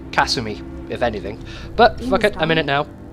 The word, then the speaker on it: Kasumi: her name wrong uh they don't put emphasis on like different syllables so it would be Kasumi if anything but [